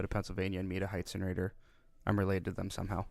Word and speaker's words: Heitzenrater: Yeah, it's Heitzenrater. Heitzenrater? You wouldn't be the first one that's butchered it, so it's okay.